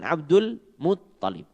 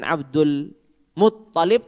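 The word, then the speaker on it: عبد المطلب: Ta-nya yang ditasydid bukan lamnya.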